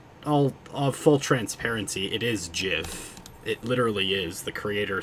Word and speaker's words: GIF: uh she's talking about GIFs, the file format, and I she she types JIF and I reply that it's GIF even though she pronounces it JIF.